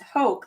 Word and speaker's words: Hoke: It's pronounced Hoke, like hope.